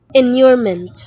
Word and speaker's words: inurement: pronounce one minute video. Can you just say it right away? Hello. Enurement.